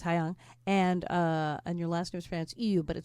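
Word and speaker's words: Haiyang: So, it's it's H ai Y A N G or as I initially tried to pronounce it, Hayang. Hi, R. But it's Hayang.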